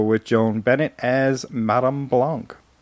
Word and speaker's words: Blanc: And of course, you got to go with Joan Bennett as Madame Blanc. Who they always pronounce blank in that Well, movie.